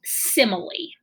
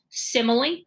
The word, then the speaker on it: simile: right it does look like smile but it's pronounced simile okay so I want you to say that three times simile simile simile okay and the poster in the reading room